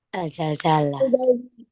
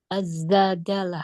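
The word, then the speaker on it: الزلزلة: Zai ini dibacanya pakainya tasdid. Lihat aja di di mana? Di ee mushaf. Apa jadinya? Alif bacanya gimana? Azzalzalah. Azzalzalah. Bukan al tapi azzal. Heeh. Azzalzalah. Azzalzalah. Suratuz zalzalah. Bukan alzalzalah. Ini sering nih kesalahan terjadi ya. Yang betul azzalzalah kalau bukan al zalzal ya.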